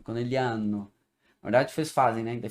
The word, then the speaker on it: Conegliano: entendi que que eu não falo o g de conegliano não italiano acaba o g acaba sendo quase nunca pronunciado ficando conegliano Verdade vocês fazem né